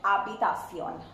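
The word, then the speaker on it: habitación: I have mentioned that H is silent that's why here you will not listen the sound of H and we call out this word as abbitasion abacasion the next one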